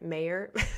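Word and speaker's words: Mawer: up say it's Rudy Mau you it's m a w e r it's kind of they pronounce it a British way so I think he actually pronounces it mayor I always get it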